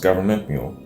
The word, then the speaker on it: Gov't Mule: hit this up man government mule uh pronounced government mule is an american southern